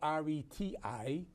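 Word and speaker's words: Réti: So far, it's called the Ready opening at this point. Right. The Ready, which is spelled R-E-T-I, is named after an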